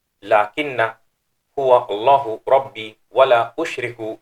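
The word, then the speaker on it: لَكِنَّ: It's pronounced lakinna because of the circle mark that you can see at the top of alif.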